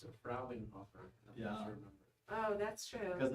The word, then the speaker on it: Frauenhofer: Brother Fraunhofer says, pronounce it Frauenhofer. Yeah. Oh, that's true. Because it's the plural for That's what he told us. Frau, isn't it? Yeah. Yes, it Yeah. is. Just say Frauen.